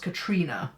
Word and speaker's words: Catriona: Catriona, it's spelt like Catriona, but I've heard it pronounced Katrina, even though it's spelt like that before as well.